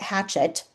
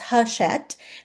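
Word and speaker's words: Hachette: Michelin, McMillan, sorry, um, Hashet, which I had to look up how to pronounce that by the way. I I've always called it Hatchet. Yeah, that's not right. It's Hushet Book Group and Simon and Schustster.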